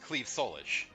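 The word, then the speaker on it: Claíomh Solais: Clyom Solace, or Clyom Solace, or whatever she could call it, which should be pronounced Cleve Solish.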